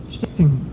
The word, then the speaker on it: Stichting: So we're a Stichting, or how do you pronounce it? Stichting.